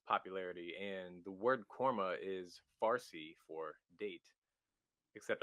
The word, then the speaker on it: KORMA: a a coffee company um how did you pronounce it again cormo quorma cormo y corma ko rma why that why'd you name it that i